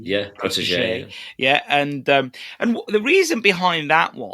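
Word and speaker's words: protégé: Protege? Yeah, protege.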